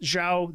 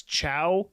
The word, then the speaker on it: Zhao: And I'm pretty sure it's pronounced Zhao, Z-H-A-O. There's sort of a westernized version that's Chow, but boy, the Chinese